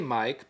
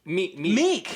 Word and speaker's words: Miek: Yeah, I kept wanting to say Mike, but I kept thinking like. Is it Mike? But it is Mike, but it's spelled like Miek. Oh, okay. But yeah, for Meek. It's Meek. Meek.